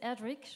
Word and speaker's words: Erdrich: Louise Erdrich, je devrais le prononcer à l'américaine, non pas à l'allemande.